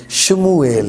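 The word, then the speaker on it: שְׁמוּאֵל: الفاظ میں ملے گی، جیسے سیموئل ہے اور عبرانی میں یہ شموئیل ہے.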